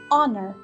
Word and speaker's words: honor: in all the words there are silent age letters in some of the words we do not pronounce them what are these words listen again Hotel happy hour hello hand home hi honor very good it's the edge in our and honor now let's read this poem